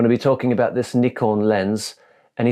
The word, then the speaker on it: Nikon: not Nikon it's Nikon if you want to pronounce it the way a Japanese person says it not Nikon and it's